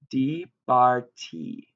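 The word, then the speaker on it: דִּבַּרְתִּי: It's going to be pronounced dibarti, dibarti, right?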